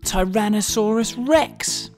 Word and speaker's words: Tyrannosaurus rex: most famous dinosaur ever Tyrannosaurus Rex how do you say that again ty ran no saw Russ Rex it's often called t-rex